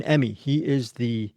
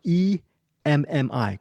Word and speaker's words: Emmi: And then finally, wrapping up the show is Carmen Emmi. Emmy is not spelled like the award. It's spelled like E-M-M-I, Carmen Emmi.